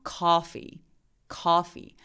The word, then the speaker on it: coffee: 그래서 coffee. 그래서 카피는 아 소리에 좀 가까운 소리고요. calm down 할 때도 얘도 약간 그렇습니다. 그리고 커피는 coffee. 약간 어의 소리에 가까운 더 긴 소리.